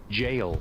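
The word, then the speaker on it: gaol: Isn't that where the word jail comes from? Jail. It's literally jail.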